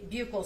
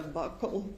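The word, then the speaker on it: buccal: Now, um can you tell the jury what a bugle swab is? So, a bugle swab or a buckle swab depending on different people say it different ways. It's spelled B U C A L and that is a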